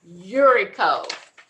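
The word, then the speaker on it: Uricho: So our first bid is Urico. It's spelled U-R-I-C-H-O.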